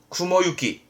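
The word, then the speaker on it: 雲行き: 쓰진 않고요 훈도가 늘상 바둡니다 뭡니까 구름이 갑니다 발음은 쿠모유키 쿠모유키 간다 할 때 입구도 있지만 6구도 쓰거든요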